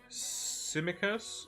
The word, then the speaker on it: Tsimikas: The new kid on the block, I think it's Tsimikas. I think it's how you pronounce it. I think the T is silent.